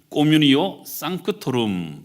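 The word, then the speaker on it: communio sanctorum: 지금 우리가 사용하고 있는 이 사도신경은 원래 라틴어로 기록되어 있는데요, 이 성도의 교제에 해당되는 이 라틴어 표현은 꼬뮤니오 상크토룸, 이렇게 발음을 합니다.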